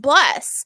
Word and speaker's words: BLE77: He goes by Bless, BLE77, pronounced Bless.